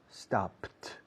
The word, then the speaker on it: stopped: Started, stopped, stopped. No se añade una sílaba. Con started, sí.